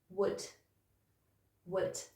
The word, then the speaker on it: would: So you've got a w sound at the beginning, and then it's just ud, ud. And then if you put that together, you've got would, would.